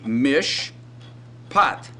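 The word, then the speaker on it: מִשְׁפָּט: in this word well the first syllable is mish and the second syllable is but if we transliterated this it would be mish pot uh let's look at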